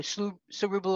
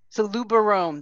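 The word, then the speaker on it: Solubarome: some is it know so ruble or how do you say that so Luba Rome thank you yeah I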